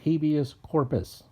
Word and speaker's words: habeas corpus: in the second line it is habeas corpus that's how you pronounce that if you pronounce it any other way your literacy test was